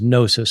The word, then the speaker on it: gnosis: The Greek word for knowledge is gnosis, spelled with a G.